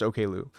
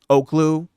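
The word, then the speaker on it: Oklou: Yeah, it's pronounced Okloo. What? See, someone like when I one time I was like talking about the OKU record and someone tried gaslighting me into thinking saying it was uh Oakloo, Don't Tap the Glass, more of like a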